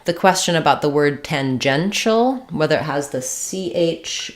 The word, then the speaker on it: tangential: CH it would sound too short T Tang tangential tangental so definitely the sh sound although the